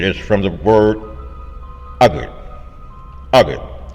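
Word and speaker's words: Agade: Agit spelled A G A D E but is pronounced agit.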